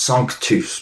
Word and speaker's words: Sanctus: He saw this word sanctis, but it's, you know, you and I might not know this. I I you know, it's actually pronounced sus because it's Latin.